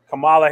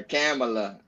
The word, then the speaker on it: Kamala: Hey, let me just say I'm glad you got her name right though, man, because they've been mispronouncing my shorty's junk, calling her Kamala for every day, though.